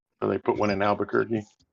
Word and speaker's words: Albuquerque: they put one in Albuquerque they pronounce it exactly like Bugs Bunny pronounces it hey yeah sorry sorry